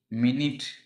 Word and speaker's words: minute: இப்போ சாதாரணமாக இதுக்கு எக்ஸாம்பிள் பாருங்கள், MINUTE மினிட், இதே தான். இதனுடைய ஸ்பெல்லிங் எப்படி இருக்குது, டிஃப்ரெண்ட் சேமாக இருக்குங்களா, ஸ்பெல்லிங் சேமாக இருக்குது. ஆனால் ப்ரொனவுன்ஸ் எப்படி ப்ரொனவுன்ஸ் பண்ணுவோம்னா இது மினிட் சொல்கிறோம், இதை மைனூட் அப்படின்னு சொல்கிறோம். இது மினிட்டு, இது மைனூட்.